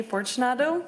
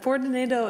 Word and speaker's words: Fortunato: you hello hi I'm Fortunato but Fortunato is fun too I like hearing all